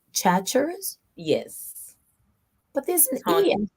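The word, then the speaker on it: Chachere's: Tony, and is it pronounced Chatchers? Yes. But there's an Tony, E. Tony Chatcheries. Oh, Chatcheries.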